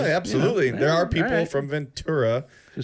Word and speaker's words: Ventura: Ventura San ventur Sam wi Ventura no not chura okay like a churo it's Ventura right I just want to make sure we got that right because absolutely there are people from Ventura who say vura that well they look get